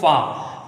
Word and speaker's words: فا: آئیے یہ تیسرا حروف فا، اس میں بھی کیا ہوتا ہے، اس کو پڑھتے ہیں پھا، ہے نا، پھا نہیں ہوتا، پھا جب اردو میں